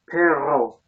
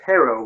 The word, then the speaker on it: perro: they kept laughing because I was trying to pronounce perro, which is dog. And instead, I kept saying perro, which is B-U-T, but, as in, but I couldn't roll my R's.